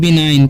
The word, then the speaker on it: benign: अब यहाँ पर लिखा हुआ है BENIGN, ठीक है। तो यहाँ पर क्या साइलेंट है, यहाँ पर साइलेंट है, जी साइलेंट है। तो इसे हम पढ़ते हैं बिनाइन, क्या पढ़ेंगे हम, इसे पढ़ेंगे हम बिनाइन, ठीक है। इसे पढ़ते हैं हम लोग बिनाइन।